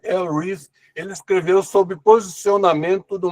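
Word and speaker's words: Al Ries: Algumas pessoas aqui no Brasil falam All Rise, mas a pronúncia inglesa é El Reis.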